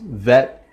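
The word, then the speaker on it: ב: with like a B without the dot it would be pronounced vet as a V so in the singing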